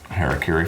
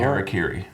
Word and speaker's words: Harakiri: Say the Harakiri. Harakiri. I've looked up multiple ways to pronounce it. That's the way that is most common.